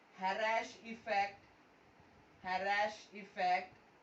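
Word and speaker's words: Kharasch: खैराश के is silent, तो हैराश बोलेंगे, ठीक है?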